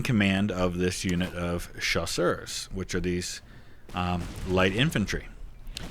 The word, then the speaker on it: chasseurs: C-H-A-S-S-E-U-R-S. Chasseurs. That's light infantry in French. I mean, it doesn't mean light infantry, but that's basically what it means. I kept calling them chausseurs, which are shoes in French.